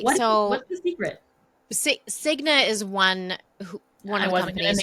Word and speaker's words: Cigna: Cigna is one of the companies who names, but yes. Okay, sorry. That's okay. It rhymes with schmigma.